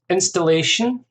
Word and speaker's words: installation: uh clearly we've got installation installation that's four syllables stress on the third syllable installation installation performance art